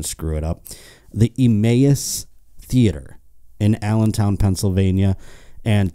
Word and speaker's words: Emmaus: Emmaus, I said it right.